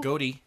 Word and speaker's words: Gotti: Gotti. Is that how you say it? Gotti with. It's Gotti.